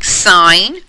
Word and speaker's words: sin: Instead of writing sine, cosine, and tangent fully, the abbreviations are SIN, we still pronounce that sine, COS, we say cos, and tan.